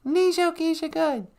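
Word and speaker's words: Niizho-giizhigad: We say Nijo Geisha Good.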